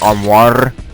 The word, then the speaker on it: armoire: There's a word that sounds very French, but apparently it has a Spanish pronunciation of sorts. But it's armoire, and you're supposed to apparently roll the R, like armoire, which makes no sense, but anyway, because there's not 2 R's.